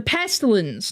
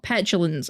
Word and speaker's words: pestilence: The pestilence, not petulence. I think petulence is farting.